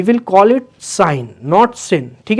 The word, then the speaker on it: sine: इसका मतलब सिन नहीं होगा, इसको हम पढ़ेंगे साइन। We will call it साइन नॉट सिन, ठीक है।